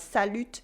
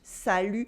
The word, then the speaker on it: salut: and you can also a salute with a silent tea not salute salute the very common informal French